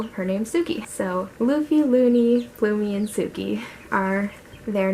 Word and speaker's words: Luni: Luni spelled L-U-N-I, which does mean moon, but so does Luna, of course. But I kind of wanted them all to have an E sound at the end of their name, so I liked the name Luni for her.